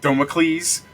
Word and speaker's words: Damocles: It's pronounced Domicles. Oh, okay. No, yeah, It's it's not Domiciles.